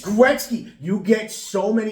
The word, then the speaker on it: Gretzky: Like when you mispronounce things Wayne Gretzky mispronounce it perfectly and they're like, "Oh, Wayne Gitzky." And everyone it's Gretzky.